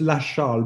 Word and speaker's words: Lachal: It's Lachal, but it's the same. Lachal.